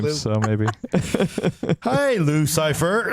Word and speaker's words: Cifer: Also, And it's Cipher. And like Cipher, no, but this is spelled Cifer. Yeah. So like a Cipher.